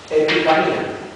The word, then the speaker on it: epifanía: que es la expresión epifanía ep se escribe así epifane pero se lee epifanía pH es F y es y epifanía